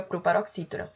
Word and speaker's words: proparoxítona: A palavra proparoxítona é também uma proparoxítona, que se a gente for chamar proparoxítona, a sílaba tônica é o xi, proxi, né?